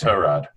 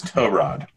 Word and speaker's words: Tyrod: finally someone asked he's like no it's actually pronounced to Rod I thought it was T-Mobile that that was the nickname they already gave that's his nickname but his actual name name is to Rod okay fair enough continue that was it that